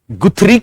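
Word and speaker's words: Guthrie: और केवल पुनर्बलन की बात आए तो गुथरी के दोस्त कौन? टोलमैन। कौन? टोलमैन। सिंपल। ओके, दूसरी बात लिखो। गुथरी के अनुसार, इनको गथरी भी बोलते हैं, वैसे गथरी इनका प्रोनाउंसिएशन होता है, पर गुथरी या गुथरी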